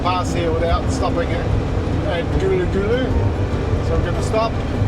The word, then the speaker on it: Karlu Karlu: I've always pronounced it Karlu Karlu. It's Gulu Gulu.